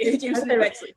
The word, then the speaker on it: Jamison & Bexley: I see Jamison and Bexley and no, did I say it right? You said it right. Jamison and Bexley.